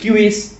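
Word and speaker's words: civis: এই যে আমরা স্টেট কথাটা বলছি, স্টেট মানে তো সিটি, গ্রিক ভাষায় বলে পোলিস, ল্যাটিন ভাষায় বলে সিভিস, মানে উচ্চারণ কিউইস, সেটাই সিটির উৎপাদন করেছে।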